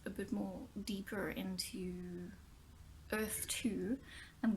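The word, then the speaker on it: Erthe: bit more deeper into earth - I'm gonna call it because it's called Earth it's spelt er th e like it would be in the old days these new continents new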